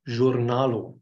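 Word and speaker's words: jurnalo: or noro honor um the J is voiced like s in pleasure or it is more or less the French pronunciation I believe so it is journalo for Journal the r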